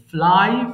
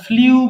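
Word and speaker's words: flew: এরপরে ফ্লাই উড়ানো, ফ্লাই ফ্লু ফ্লোন। আচ্ছা, এটাকে আবার ভুল ভাববেন না, এটার উচ্চারণ হবে কিন্তু ফ্লু, বাট আমরা ফ্লিউ বলে থাকি।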